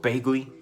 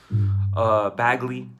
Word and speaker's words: Bagley: Mark Bagley. Bagley, it's Bagley. I always say Bagley because I mispronounced it for so long.